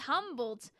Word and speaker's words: Humboldt: Ah, Humboldt says, just so you know, my alias's name is pronounced Humboldt.